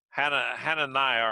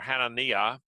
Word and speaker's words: Hananiah: Ananias' Jewish name, Hananiah or Hananiah, depends on where where you put the emphasis in what syllable there, means Adonai is gracious.